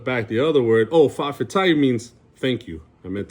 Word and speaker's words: fa'afetai: And what it does, it sounded like a glottal stop, right? It's in the back of your throat. It's fa'afetai.